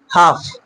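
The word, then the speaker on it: half: এফ এর আগে যখন থাকে, যেরকম কাফ, হাফ, এরকম করে কিন্তু কি এলটা সাইলেন্ট থেকে যায়।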